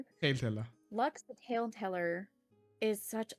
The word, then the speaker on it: Lux: I mean Lux also gets a little bit differently pronounced. I had like people most people call me Lux. Um, some call me, some call me. So, it really depends. It depends on which country you're from.